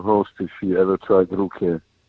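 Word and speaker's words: Ruchè: Here they call it Ruche.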